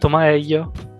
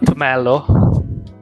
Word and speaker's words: Tomaello: So, with that out of the way, my name is Alessandro Tomaello, not Tomaello, not Alessandro, not Tomello.